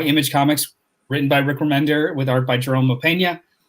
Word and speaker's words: Remender: it remember not remember remender as opposed to reminder all right there you